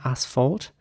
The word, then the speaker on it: asphalt: And the next word is spelled A-S-P-H-A-L-T. Now, in British English, this would be pronounced asphalt, with an R sound at the beginning, asphalt.